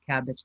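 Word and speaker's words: Kabbage: takes pvp applications that's cabbage calm okay so um I um II can you put that in the link there it's cabbage that's spelled k a BB a GE com cabbage with the K cabbage calm this is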